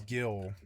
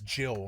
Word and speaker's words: Gil: It is Gil, you know, but like man, for 27 years, I thought of it as Jill for some reason. I was like Jill, but it was a soft G to me cuz you I never did hear somebody say the word. So, in my head, I always read it as as Jill, a soft G, but no, it is a hard G.